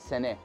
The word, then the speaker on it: Sanneh: We call it sene pattern. Sene, you remember, is the way that the Kurdish pronounce Sanandaj.